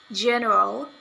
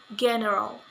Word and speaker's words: general: Example in the word general, but it is pronounced general.